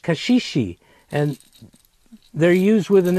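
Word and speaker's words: caxixi: in Brazil called Kashi spell see a xixi pronounced Kashi and they're used with an instrument called the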